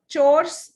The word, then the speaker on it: chores: So guys चोर्स इट इज CHORES का pronunciation होता है चोर्स.